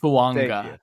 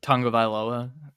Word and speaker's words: Fuaga: you pronounce that Lisa fuaga that's my man fanga actually it's kind of like Tango tongoa there's a little silent end in there at plus 650 all right